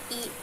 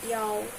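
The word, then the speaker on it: 一: Kenapa aku baca satu di sini bukan i melainkan yao? Biasanya kalau buat nomor telepon, nomor apa lagi, nomor kamar, kita pakainya yao, bacanya bukan i lagi, kita pakainya yao.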